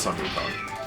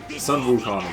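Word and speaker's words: Sun Wukong: of Goku wukan yeah well Sun Goku which is Sun wukan but translated into Japanese as Sun Goku sunuk is the the Chinese pronunciation um I'm an American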